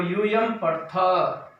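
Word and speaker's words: यूयं पठथ: तुम सब पढ़ते हो, यूयम पठथ, इसमें विसर्ग नहीं लेकिन थ पूरा बोलना, हलंत भी नहीं, पठथ, इसमें पठथः पठथ उच्चारण में हमें स्पष्टता ध्यान रखना है।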